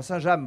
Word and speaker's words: Saint-James: Johanna, vous êtes magnifique avec cette tenue, une tenue Saint-James aussi, comme, enfin Saint-James, il faut bien prononcer, comme nous ce qu'on a aujourd'hui.